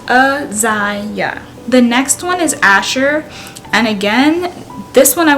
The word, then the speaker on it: Asher: And it's pronounced Asher. Really straightforward. Again, the way the name is spelled is how it should be pronounced, and so I don't see too much confusion with that name.